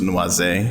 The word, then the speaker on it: noisette: It's actually the French pronunciation, so it's noisette.